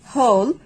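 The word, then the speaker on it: whole: যখন দেখবো যে ডব্লিউ এইচ এর পরে ওস লেটারটি আছে ও লেটারটি আছে সো সেই ক্ষেত্রে আমরা ডব্লিউ টাকে সাইলেন্ট করে পড়বো যেমন হু হুম হুজ হোল হু এভার এই ধরনের ওয়ার্ডগুলোতে আমরা এইটাকে সাউন্ড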